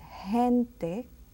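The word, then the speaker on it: gente: is as I said when it's next to an E or an i is pronounced very gently it's hente means people hitano means Gypsy and hen General it's just like a j sound in Spanish and then we go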